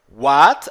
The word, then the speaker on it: what: What, aqui mais uma vez, a letra W tem o som de U, tá?